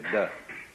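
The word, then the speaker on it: 德: meaning of this word, de. The Japanese pronounce it toku, the Cantonese dak, and the northern Mandarins approximately de.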